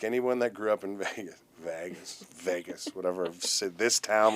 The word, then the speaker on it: Vegas: Nobody says I How do you say it? Vegas with a like a E, but you have like a long A.